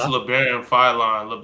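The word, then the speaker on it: Labaron Philon: How do you pronounce this? Yeah, it's LeBaron Philon.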